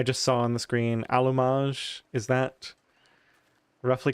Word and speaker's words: allumage: saw on the screen allumage, is that roughly correct? Um, you're not really pronouncing the A right. It's like you should open your mouth more.